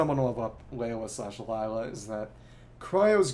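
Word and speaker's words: Layla: well guess sort of the pronunciation in game is Lea but that's kind of like the whole Candace Kake thing and that in Arabic I believe it's more like Lila so it's sort of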